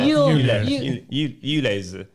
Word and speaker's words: ULEZ: ULEZ.